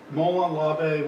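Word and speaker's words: Molon labe: i'm holding in my hand a disc for molan labe did i pronounce that correctly exactly excellent and tell us a little bit about this movie is this your latest one molon lavey was released last september it is our sixth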